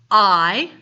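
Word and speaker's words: hay: given you a model I that word is pronounced I it either means there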